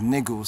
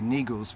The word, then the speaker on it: Negus: The Negus, really we pronounce as Negus, some say Negus, but the Negus, right?